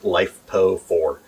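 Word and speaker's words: LiFePO4: uh lithium iron phosphate it's commonly pronounced lifepo for um and we use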